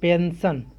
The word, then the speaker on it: pension: उसी प्रकार से PENSION, यहाँ पर एस के बाद IO आया है, ION, यहाँ पर इसका उच्चारण क्या होगा दंती सही होगा, इसको कहेंगे पेंशन।